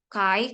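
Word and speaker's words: chi: namanya Kai Square ya Ini bacanya Kai kalau dalam bahasa Latin bahasa Inggris Disini saya akan mengikuti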